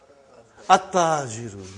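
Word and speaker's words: التاجر: How will you pronounce this now? At-tajiru. You did not pronounce al. You did not pronounce lam. Okay, you did not pronounce. You skipped it.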